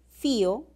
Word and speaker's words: fío: Una cosa es decir fío con hiato acentual y otra cosa es decir fió.